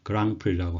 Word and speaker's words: Grand Prix: 그랑프리라고 하고요. 이 단어의 어원은 불어에서 왔습니다. 그래서 뒤에 있는 D나 X 발음을 안 하고 불어식으로 발음을 하는데 불어의 의미 자체도 Great Prize, 그래서 커다란 상, 대상이란 의미가 되겠습니다.